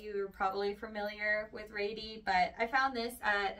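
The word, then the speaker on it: Rady: by the brand R which for the longest time I thought was pronounced ratty because it's spelled r a d y but apparently supposed to be like R like lady anyway if you were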